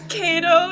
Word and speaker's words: Ceto: You pronounce it first. It's Cato, Ceto.